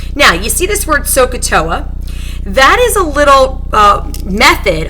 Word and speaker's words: SOHCAHTOA: And I pronounce that SOHCAHTOA to help me to remember which sides go with which trig ratios.